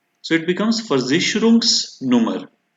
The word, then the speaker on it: Versicherungsnummer: have seen till date, this S becomes a part of first word. So it becomes Versicherungsnummer, right?